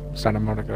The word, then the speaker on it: Santa Monica: Santa Monica, yeah.